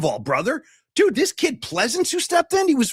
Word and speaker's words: Pleasants: Donald Pleasants. Donald Pleasants. is Donald Pleasants. Different spelling, same pronunciation.